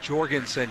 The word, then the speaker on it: Jorgenson: number 14 of Maddie Jorgenson Jason wag with the J pronounce the J pronounce the J soft J not a soft J it's a hard J J we got we